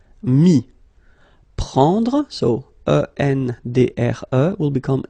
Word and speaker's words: mis: Final S not pronounced, so mettre, to put, mis.